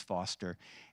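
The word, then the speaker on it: Forster: His name is Foster. It's spelled Forester, but his name is Foster.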